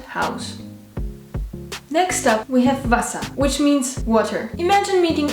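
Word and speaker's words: Wasser: means house in English and guess what it's pronounced exactly the same way house and house next up we have Vasa which means water imagine meeting a friendly buser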